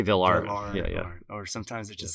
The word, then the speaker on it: villarrte: B was V or V art I say V art or sometimes it just sounds like a veneral